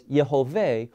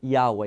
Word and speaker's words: Jehovah: of God what what properly is is pronounced as Jehovah or what wrong people who do not know Hebrew will call Yahweh it's not Yahweh its Jehovah now why is that